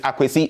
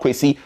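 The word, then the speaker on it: Akwasi: Also, the real name is Akwesi, not Kwesi or whatsoever.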